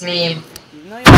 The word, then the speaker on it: Meme: get it right K it's pronounced M it's pronounced meme even though you call something it's Mee Kayla